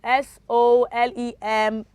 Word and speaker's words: solemn: to k-l-o-w l-e-d-g-e knowledge which of the letter is silent okay three s-o-l-e-m-n m s-o-l-e-m-n okay that is solemn okay and